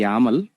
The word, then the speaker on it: YAML: here second one is actually input file okay pronunciation we actually call as it's the yaml okay but file extension is yml only remember